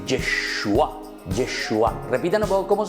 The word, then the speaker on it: Yeshua: Jesús quiere decir, en hebreo se dice Yeshua.